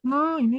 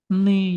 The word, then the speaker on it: 니: Untuk no ini ditambahkan ei juga. Nah, dia dibacanya bukan noi, tapi menjadi ne juga.